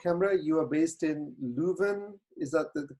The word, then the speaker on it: Leuven: You are based in Leuven. Is that the correct pronunciation in Belgium?